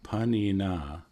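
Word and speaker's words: pāṇinā: we have this word panina and so a panin maybe I'll write it here um p a n i n but it should have a long a aan this is another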